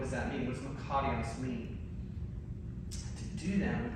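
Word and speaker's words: μακάριος: You're going to roll your R there, it's makarios.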